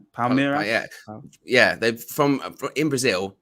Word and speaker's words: Palmeiras: They've signed Endrick from, how do you pronounce the name? Is it Palmeiras? Palmeiras? I think it's Palmeiras.